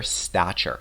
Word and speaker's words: stature: He was a guy of major stature. Stature means position or status. So he was fairly well established. He was well known. Let's pronounce it together. Stature with a ch sound.